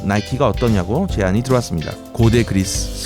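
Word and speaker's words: Nike: 그렇게 싸우다 승리의 여신인 니케, 미국식 발음 나이키가 어떠냐고 제안이 들어왔습니다.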